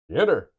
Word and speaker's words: Xitter: Xitter, it's pronounced shitter.